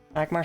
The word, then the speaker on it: Magmar: But holy Magmar's got health. How do you pronounce that Pokemon?